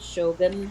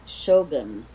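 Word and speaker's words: Shōgun: was I saying it you were saying it like Shogun and I'm saying yeah and you're saying Shogun yeah okay yeah I'm putting the emphasis on the first syllable you're putting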